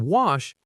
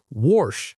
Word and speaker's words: wash: The word wash, it's not wash like some people say. It's w with a short a like cat or hat. And make sure that sh at the end is clear.